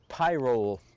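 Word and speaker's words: pyrrole: limited I have here a pie roll py r ro le I think it's pronounced pie roll I'm not sure but very limited reds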